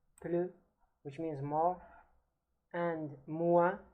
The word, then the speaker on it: plus: While comparisons in French are formed by placing the word plus, plus, pronounced in French, plus, which means more, and